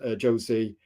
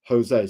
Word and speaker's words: Jose: you realize that actually Jose is meant to be pronounced Jose because it's Spanish.